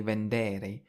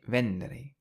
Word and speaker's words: vendere: However, if we look at some e verbs like vend, well, we've stressed the syllable before the e. So, we don't say vendere, we say vendere. And this is true of all e verbs. So a and e verbs you stress the a or the i. Whereas e verbs you stress the syllable before that.